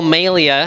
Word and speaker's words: Melia: And so you can remember that my name is pronounced Melia because, and this was pointed out to me soon after I realized that my name was Melia. Melia rhymes with WrestleMania.